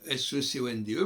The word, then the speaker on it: seconde: Et on continue par exemple la seconde, on écrit S-E-C-O-N-D-E, mais on prononce G, seconde.